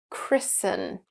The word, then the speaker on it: christen: glisten and christen that rhyme with listen.